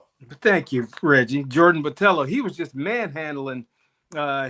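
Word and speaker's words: Botelho: Here it is, Jordan Battello. Thank you, Reggie. Jordan Batello.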